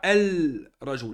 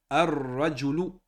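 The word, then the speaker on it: الرجل: Ici, quand on lit ce mot ici, on ne dit pas el rajou. Là. Ils nous disent qu'on ne le prononce pas. On l'écrit, il est bien écrit ici, mais on ne le prononce pas. On va dire ar-rajulu, ar-rajulu, ar-rajulu. Est-ce que vous entendez le lem là? Ar-rajulu. Al-baytu, ar-rajulu. Le lem ici, on n'entend pas.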